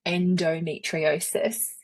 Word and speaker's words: endometriosis: It's actually endometriosis."